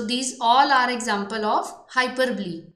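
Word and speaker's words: hyperbole: इसकी प्रोनाउंसिएशन है हाइपरब्ली।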